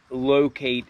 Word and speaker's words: Lowcate: But just some ACG branding on the box and the tag reads ACG Locate and that locate is spelled like L O W Kate and these are a size 10.